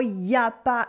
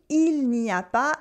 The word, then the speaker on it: il n'y a pas: Pronouncing il n'y a pas is really a sign of formality.